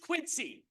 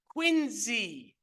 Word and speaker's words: Quincy: the United First Parish Church it is not pronounced Quincy it is pronounced quiny like a Ze uh it is so it's